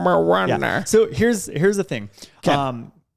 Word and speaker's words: Moana: I say it like that because that's how the grandma says her name in the movie. Moana. Moana.